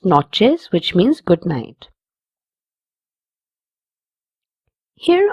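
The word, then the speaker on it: noches: This word has a ch in it. It will be pronounced as chill. Buenas notches which means good night.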